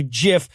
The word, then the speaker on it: GIF: this issue comes up the guy who invented it pronounces it jiff says one side that's a peanut butter says the other when Jesus sees are followed by an i or ii they're usually pronounced as soft says one side gift Gil's